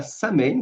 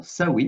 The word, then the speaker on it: Samhain: On va donc aborder cette première vidéo qui est dédiée donc à Saame qu'on prononce également Sain si je ne me trompe pas.